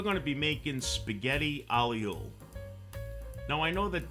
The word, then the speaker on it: aglio: Now I know that this dish is pronounced many different ways, but my grandparents actually came from Italy. This is the way that my family always pronounced it, so we always called it spaghetti aglio.